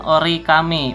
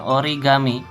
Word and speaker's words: origami: Hai jadi apabila disatukan cara bacanya bukan ori kami melainkan origami ia mungkin hukum tajwidnya